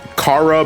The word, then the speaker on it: Chara: I personally pronounce it as Chara. I think people will say Kara because it's shortened for character, but Chara just to me just sounds better.